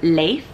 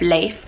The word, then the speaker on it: Leif: for a boy, whereas the pronunciation of Leif, which is the Swedish way, is much more masculine but still has that cool nature sound to it.